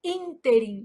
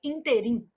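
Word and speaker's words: ínterim: Então, a palavra inter apresenta erro de prosódia quando pronunciada como oxítona, que aí a pronúncia seria interim.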